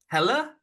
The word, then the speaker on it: Pelle: series by the way I've always said pel Larson but you're our overseas pronunciation specialist is it Pella I believe it is Pella P lar Pella Larson